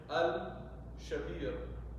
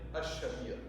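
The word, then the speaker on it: الشبير: So if you wanted to say Al-Shabir, you say Ash-Shabir. You'll drop the lam.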